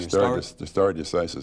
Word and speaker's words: stare decisis: of, you'll have to help me with the pronunciation. Stare decisis. Stare decisis.